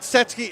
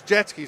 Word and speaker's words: Jetski: It's not Setsky, it's Jetski, so we will know that for the next one.